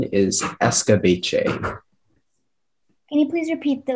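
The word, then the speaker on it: escabeche: a sweet and tangy sauce and the only pronunciation is escobache can you please repeat the language of origin escobache he escape j that is correct next speller speller 1 14.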